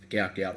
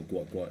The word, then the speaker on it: Gout Gout: at the Central Coast any thoughts on um gout gout or guat Gat if you want to say it correctly uh oh it is gout gout sorry just jump in